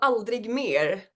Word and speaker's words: Aldrig mer: And I cannot pronounce your song name, so can you please pronounce it for me before I say it wrong? It's called Aldrig Mer.